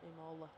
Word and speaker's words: Imola: Pretty much all two There are two chicanes currently in Imola. I think that's how I pronounce it. I can't remember. Il Imola, that's right. Imola.